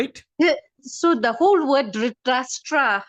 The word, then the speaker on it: Dhritarashtra: So the whole word Dhritarashtra, how do you say the name?